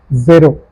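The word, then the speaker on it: zéro: So it's zero, zero. Since you see accent aigu over the sound is a, zero.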